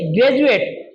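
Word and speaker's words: graduate: ज क्यों बना है? क्योंकि डी के बाद में यू ए टी ई आया है। यू ए टी ई आया है। तो डी का उच्चारण क्या हो गया? ज बन गया। उसको आप क्या पढ़ेंगे? ग्रेजुएट।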